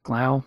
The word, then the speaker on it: Glau: Glau.